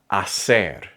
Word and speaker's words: hacer: In Spanish, the letter H is completely silent. Not sometimes, not only on weekdays, always. Hombro, hoy, hacer, habitación.